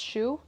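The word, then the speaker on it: choux: the same thing is pesu is that how you say it it's like the French way of saying that kind of pastry okay so so SHO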